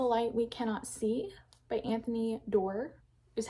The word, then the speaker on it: Anthony Doerr: I finished All the Light We Cannot See by Anthony Doerr, is how you say his name.